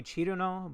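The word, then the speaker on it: Cirno: Cerno. It's apparently Chiruno, but I'm gonna pronounce it as Cerno because I've pronounced it that way for 15 years.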